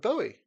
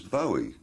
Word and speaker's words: Bowie: I always thought it was Bowie. I thought, well, it's a Scottish name, must be Bowie. But nobody in Scotland pronounces it like that. They pronounce it Bowie, I think.